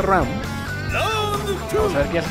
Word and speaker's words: Ran: Sí, se pronuncia Ram.